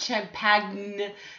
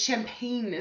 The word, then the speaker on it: champagne: You don't pronounce the G in champagne. It's not champagne. It's champagne, so it would be champagne-like.